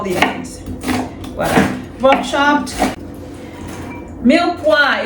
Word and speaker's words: mirepoix: Milwa is spelled M I R E P O I X. Milwa.